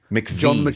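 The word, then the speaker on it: McVie: How do you pronounce that? MCV. McVy, thank you.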